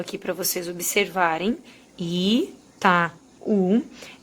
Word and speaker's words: Itaú: por exemplo, a palavra Itaú, que eu já separei a sílaba aqui para vocês observarem, Itaú. Essas duas aqui são vogais, o A é sempre vogal, e esse U é forte, o que transforma ele